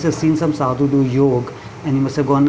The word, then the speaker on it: yoga: It is actually called yog and not yoga.